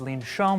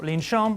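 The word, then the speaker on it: לנשום: breath and that's why today's word is Lena Shan which is how you say to breathe in Hebrew so lean shan or up to breathe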